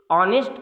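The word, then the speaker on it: honest: And here ऑनेस्ट जो word है H silent है और ओ से प्रोनाउंसिएशन शुरू हो रहा है, अर्थात option number C इज the right answer.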